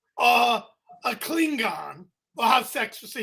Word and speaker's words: Klingon: this rant is that you pronounced the G in Klingon Klingon yeah yeah how do